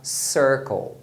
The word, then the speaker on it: circle: Então quando você tem a combinação IR, esse IR vai ser pronunciado com o som de ER. Por isso que a palavra círculo a gente fala circle, circle. Acontece também com a letra E, o mesmo padrão.